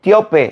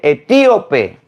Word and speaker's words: etíope: se dice Etiopía Mire no se dice teope se dice etíope candece no se dice